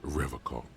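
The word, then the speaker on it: Revachol: only makes things worse he pronounces River Co with a hard K oh I heard it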